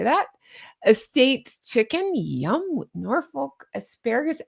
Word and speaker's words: Norfolk: I always catch hell in the way I say Norfolk. That's how we say Norfolk. I believe you guys actually pronounce it, unless you're messing with me, Norfolk. Is that right? Did I say that right?